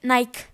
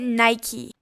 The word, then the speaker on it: Nike: No se dice Nike, se dice Nike.